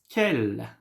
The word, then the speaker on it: quelle: Quel, quelle, quelle, quelle. Yes, it's the same. The pronunciation is the same.